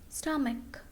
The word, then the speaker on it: stomach: Okay, here after C there is letter H and letter H is silent. Echo, echo, stomach, stomach, technology, technology.